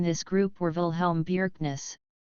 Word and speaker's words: Bjerknes: group were Ville helm Bjerknes pronounced BYU arcane s his son Jacob Bjerknes